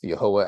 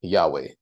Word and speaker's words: Yahweh: name of God is um specified and we pronounce it here as yahwah as it is here trying to highlight it